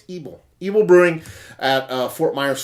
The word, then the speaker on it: Ybel: And the person who sent me the beer, I actually commented, I'm not quite sure how to pronounce the name, and he actually told me, so it's Ybel.